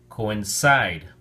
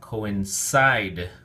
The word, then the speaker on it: coincide: quarter three week six coincide three syllables emphasis on the last syllable so we have coincide coincide it rhymes with go